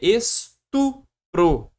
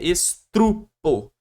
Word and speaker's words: estupro: Então é estupro, não é estrupo.